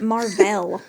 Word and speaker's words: Mar-Vell: him by Rick Jones why are you saying it Mar-Vell that's how it's spelled M A R dash V E L L I thought you were